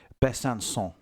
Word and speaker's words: Besançon: Um and I don't want everyone to get over over excited by the pronunciation. It is Besançon.